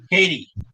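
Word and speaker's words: Kadee: up uh edward uh is it katie or caddy edward katie katie edward no no affiliation uh because it's spelled differently from uh katy perry no uh katie couplers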